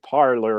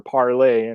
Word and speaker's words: Parler: I mean, the fact that you have a platform that's an echo chamber like Parler or Parlay, it's pronounced in different ways.